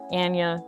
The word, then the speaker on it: Anya: pronounce my name correctly if you pronounce it anya instead of anya then obviously there's no rhyme scheme there which is incorrect but if you do pronounce my name correctly anya panda it kind of has like a little bit of a rhyme scheme there and i thought